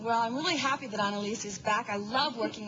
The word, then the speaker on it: Ana-Alicia: Okay, your name is spelled A-N-A, then there's a hyphen, then there's A-L. So I'm thinking Ana-Alicia. And apparently the A is silent.